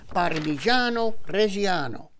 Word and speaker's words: Parmigiano Reggiano: Parmigiano Reggiano.